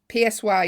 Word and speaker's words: Psy: PSY is called. Is he not called Psy? Yeah. He is. But it's spelled PSY. Gig, Halloween?